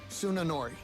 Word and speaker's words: Tsunanori: How is it pronounced? Tsunanori.